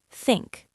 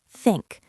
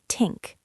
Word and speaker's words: think: You can say, "Let me think about it." That's a great one. And it's honest. Pronunciation tip. Think. Tongue between the teeth. Think, not tink.